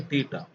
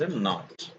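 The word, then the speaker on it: naught: is given now, but it should not be pronounced like a theta. It is not. What is that called? Not. Okay, it is pronounced as a not.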